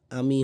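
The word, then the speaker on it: I'm: কি বললাম উচ্চারণটা? আম। ম্যাংগো মানে আম না সেই আম বলতে পারি।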